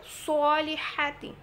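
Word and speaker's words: الصالحات: সলিহাতি তাহলে সম্পূর্ণ আয়াতটা যদি দেখি ইল্লাল্লাুহাতি এখানে যেন সদ উচ্চারণটা একটু খেয়াল করে করবেন মোটা করে উচ্চারিত হবে সহাতি সহাতি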